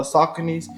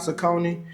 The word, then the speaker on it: Saucony: Just for a little bit of color, we're doing these uh Sauconys. Did y'all know it's pronounced Saucony and not Saucone?